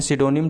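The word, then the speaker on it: pseudonym: तो पी से स्टार्ट होता है, लेकिन इसको जो है करेक्ट इस जो प्रोनाउंसिएशन होता है उसको बोलते हैं सिडोनिम, ठीक है।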